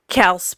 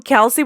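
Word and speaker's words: Kelce: super fan of the Kels brothers because we've been calling them Kelsey brothers, but I guess you pronounce their last name Kels, and I was like, no.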